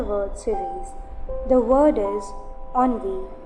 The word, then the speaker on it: ennui: The word is onvi. It's not ani or something else. It's onvi.